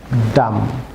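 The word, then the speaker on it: dumb: যেমন DOMB, viewers এখানে be silent থাকবে, ডাম।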